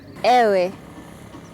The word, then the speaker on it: ewe: Ewe. I think the word is ewe.